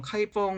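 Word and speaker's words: 开封: 양 이라고 하는 지역입니다 신음 개 본 현재 발음으로는 카이 펑 이라는 지명 입니다 뒤 논 남경 중국어 발음으로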